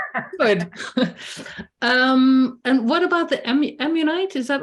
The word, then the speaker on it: ammonite: And what about the ammonite?